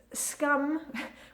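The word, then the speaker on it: skum: Talking about sweets, you'll maybe see scum or scum, and scum, which is spelled S-K-U-M, has got nothing to do with scum.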